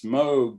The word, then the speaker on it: Moog: his desk that said it's moog to rhyme with rogue uh so i've tried